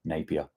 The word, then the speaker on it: Napier: it's um uh centered around Napier am I pronouncing that right Peter please correct me uh if if I'm incorrect there Napier but I assume it's Napier and in the